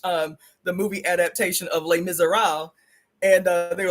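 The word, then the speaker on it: Les Misérables: It's called Le Miser. Uh, it's spelled L E S and then M I S E R A B L E S. It's French. Lay miser, right?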